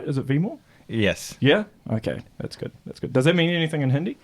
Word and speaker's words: Vimal: There's a slight change in pronunciation. Okay. It's Vimal with a short E. Vimal.